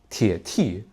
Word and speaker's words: 铁T: Et rappelez-vous de prononcer le T avec le quatrième ton. tì, tiě tì.